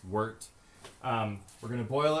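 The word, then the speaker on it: wort: going into the pot that's called wart it's spelled WT kind of like you'd say wart but we in Brew terms it's wart um we're going to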